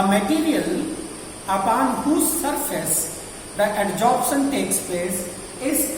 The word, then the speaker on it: adsorption: Sometimes adsorption is pronounced very much similar to absorption, as both are two similar terms, as we are pronouncing adsorption and absorption, but they are totally different.